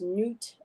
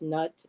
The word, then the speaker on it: Nut: Yeah, I've heard her name pronounced Newt. I've heard it pronounced Nut, and I've seen art where she kind of just like stretches right over, Yeah.